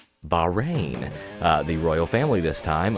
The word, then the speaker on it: Bahrain: and infectious virus oh wait what you couldn't pronounce it it's Bahrain the royal family this time unleashing mass destruction